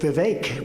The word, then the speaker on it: Vivek: I also want to congratulate Vivek because he did a hell of a job. Rhymes with cake.